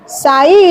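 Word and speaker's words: ψ: अब आप नोट कीजिए सई इज द ये जो सिंबल है बेटा ऐसे त्रिशूल टाइप का इसको बोला जाता है स स्पेलिंग है पी एस Y again P साई लें तो स ठीक है ये क्या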